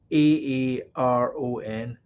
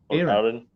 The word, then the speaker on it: Aaron: scottish people calm down so how would you pronounce the name a-a-r-o-n aaron aaron aaron when it's over here it sounds like aaron e-r-i-n that's just the accent though i don't know what